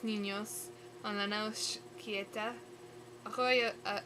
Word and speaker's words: arroyo: Arroyo, oh right, you roll your R's.